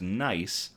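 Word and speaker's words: GNEISS: Mission, known as NICE, it's spelled G-N-E-I-S-S, but it's pronounced NICE. The G is silent.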